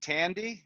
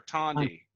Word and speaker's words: Tanti: Is it Tandy or Tanti? Tanti. Tanti. Tanti. Yeah, I've seen it written, but I wasn't sure how to pronounce it.